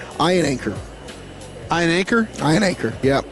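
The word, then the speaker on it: Iheanachor: Ian Anchor.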